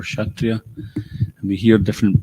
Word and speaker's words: Kshatriya: And Prabhupada, when he pronounced like this, he would actually, the S was silent. Like he'd say Katriya for Kshatriya.